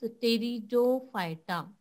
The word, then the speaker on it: Pteridophyta: division is अ टेरिडोफाइटा so here you कैन सी पी is xylem so you pronounce टेरिडोफाइटा so this टेरिडोफाइटा काय